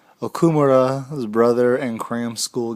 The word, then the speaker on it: Okumura: interview part one of okurama yeah i said it wrong okumura his brother and cram